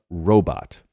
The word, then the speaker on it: robot: there's an android named vision note here the pronunciation of robot robot like the thai bot currency even though